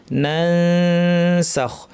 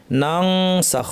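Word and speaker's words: ننسخ: নানসাখ সঠিক উচ্চারণ হবে নানসাখ। নুনসিহা আমার দেশে অনেক সময় সহজ করে শেখানো হয় যে অনুস্বারের আওয়াজ, ফলে অনেকে নানসাখ পড়তে গিয়ে আপনারা হয়তো পড়েছেন ছোটোবেলায় নাং সাখ, নাং নাং নাং সাখ, নুং সিহা।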